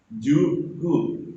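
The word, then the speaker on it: 十九: Berarti juku, juku, juku.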